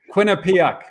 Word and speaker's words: Quinnipiac: Institute and now I have to try and pronounce the university name, and even though we practiced this, so Quinnipiac.